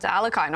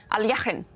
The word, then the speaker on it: Alekhine: And so much fun to listen to your stories about Alekhine, or Alekhine, which I guess is the right pronunciation in Russian.